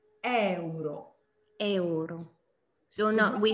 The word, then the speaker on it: euro: Questo è euro. Euro. So no, we say euro. So yeah, you have to see the E. In Italian you say all the vowels. So Yes, euro.